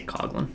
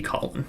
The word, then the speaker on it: Coughlin: I say Coughlin, but it should be Collin because it's, yeah.